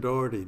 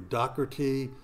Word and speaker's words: Doherty: and there must be 25 ways of saying Doherty docherty dough like bread dough or tea or dough